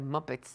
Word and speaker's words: Muppet: que también pueden ser muppets de dónde viene esa palabra ale no los va a platicar se pronuncia muppet y es un personaje